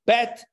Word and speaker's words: bet: is an easier sound the dot gives it a Dage gives it a little emphasis so bet vet okay but how do